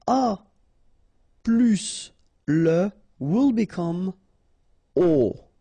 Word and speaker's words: aux: aux, okay, and then phonetically you produce it or you pronounce it o.